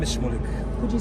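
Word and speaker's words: Shmulik: My name is Schmoolik. Could you spell it for me, please?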